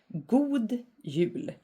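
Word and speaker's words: God jul: we have it again good Yu so good is pronounced like God but it's it means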